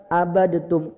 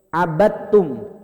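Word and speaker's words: عَبَدْتُمْ: Jangan baca abadatum. Ustadz itu kan dal. Dal itu kan termasuk qalqalah. Ya, nanti ada pembahasan khusus namanya hukum idgham mutajanisain. Pokoknya kalau dal sukun ketemu ta itu dia satu keluarga, Pak. Da, to sama ta. To data, to dal sama ta itu satu keluarga mereka. Langsung aja diidghamkan. Dalnya ngalah. Jadi langsung abad enggak abadatum salah. Abadtum.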